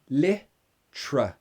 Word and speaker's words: literally: so the first one literally say it with me literally you you actually have a glottal stop there lip literally lip trash